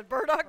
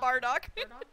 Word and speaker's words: Burdock: too I mean Bardock wait how do you say it Burdock yeah Burdock not Bardock Bardock is something else would